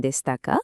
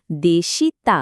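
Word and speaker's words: でした: দোষিতে আসা গোহানো তাবেমাসেন দেসতাকা এখানে একটা ছোট্ট টিপস দিই দেশিতা না বলে দেসতা উচ্চারণ করাটা কিন্তু অনেক বেশি ন্যাচারাল শোনায় আর হ্যাঁ এই প্রশ্নের উত্তরে বাক্যের শেষে অবশ্যই কারা যুক্ত করতে হবে।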